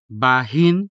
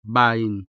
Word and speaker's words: bahin: So you can either say dahon or daon, bahin or bain, taghol or tagol.